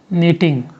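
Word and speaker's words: knitting: दूसरा important process है नीटिंग, ठीक है, के साइलेंट है, नीटिंग, ठीक है, के को नहीं पढ़ना है ना बाबू, नीटिंग, नीटिंग।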